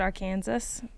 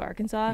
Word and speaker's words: Arkansas: in social studies, and she said Arkansas instead of Arkansas.